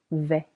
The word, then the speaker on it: vais: Je vais je vais silent s and the phonic.